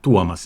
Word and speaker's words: Tuomas: about yourself oh yeah sure um so I'm duomas if you want to pronounce it correctly nobody can so I go